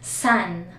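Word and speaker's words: さん: So, katulad ng Minasang, usually, sa dulog, ang pronunciation nila is with G, Minasang or Sang. Pero sa mga beginners pa lang, pwede nyong i-practice yung San.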